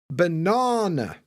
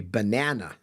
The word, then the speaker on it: banana: saying B okay so the correct answer for British people is b banana we hav this long n in the middle Americans are more like to say banana with a short a we got this a